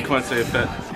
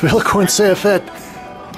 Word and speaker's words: Vilaykorn Sayaphet: We're going to do a rough cut walkthrough today with Vilaykorn Sayaphet. Is that the way it's pronounced? Okay. Vilaykorn Sayaphet. Yep. Vilaykorn Sayaphet here at English Kills.